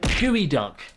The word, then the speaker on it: geoduck: No, it's called Gooey Duck.